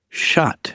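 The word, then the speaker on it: chat: little French would be shot. You wouldn't say the t but they're saying shot which is the French term for can we say that?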